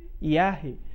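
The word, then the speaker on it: יָהּ: Deus que é Yah pronuncia-se Yah pois neste caso o re final é pronunciado pois está com um ponto dentro dele chamado mapic o qual indica que o re deve ser pronunciado apesar de estar no final da palavra esta forma abreviada do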